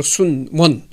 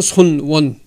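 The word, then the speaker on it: 孫文: 순문 순 순이라고 했잖아요 중국 발음으로 순원 우리나 그 한 한문 발음으로는 손원 그 손원이 중국 역사상에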